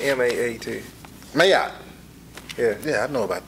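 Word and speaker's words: Maat: Meat. You heard of it? I don't think that's how it's pronounced. M-A-A-T. Mayat.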